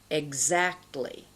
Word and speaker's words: exactly: If the vowel sound following the letter X is stressed, the letter X is pronounced gz.